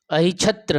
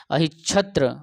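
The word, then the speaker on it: अहिच्छत्र: अहिचत, देखो अहि आधा च छत्र, अहिछत्र, है ना, च तो है साइलेंट कर देना, अहिछत्र, अहिछत्र और काम्पिल्य, ये दो राजधानी थी पंचाल की।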